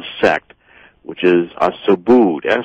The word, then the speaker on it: Subud: they're often called a sect which is a Subud Su b u d that's how that's pronounced as well I've been Su sub like